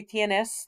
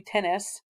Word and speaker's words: tienes: you, but my Spanish students always forget to add the extra syllable for tu tienes. They want to say tu tenes.